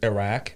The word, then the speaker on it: Iraq: uh but i mean the way i say it is iraq because that's closer to the arabic pronunciation yeah but um so